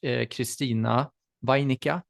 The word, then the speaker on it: Christina Wainikka: Yeah, it's my pleasure to welcome today's expert, Christina Wainikka. Is that correctly pronounced? Yes.